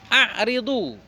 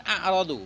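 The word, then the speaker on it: أعرضوا: A'ridu, bukan a'radu. Mana adira? Bukan a'radu tapi a'ridu, fi'il amar.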